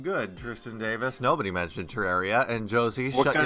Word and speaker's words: Terraria: Liam, why do you say Terraria? Terraria. I said Terraria. Oh. just sound like you said it with like a TR instead of a TER.